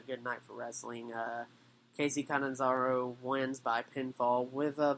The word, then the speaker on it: Catanzaro: Yes, Catanzaro. Or Catanzaro. But I like the first pronunciation better.